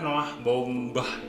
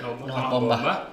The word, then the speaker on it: Baumbach: Jadi dia ini sutradaranya adalah Noah Baumbach bacanya. Ya, Noah Baumbach.